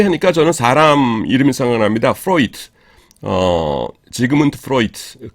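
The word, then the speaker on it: Freud: 프로이트. 지그문트 프로이트, 그 독일 심리학자죠. 그래서 D지만은 독일어에서는 마지막에 D가 올 적에는 트로 발음합니다.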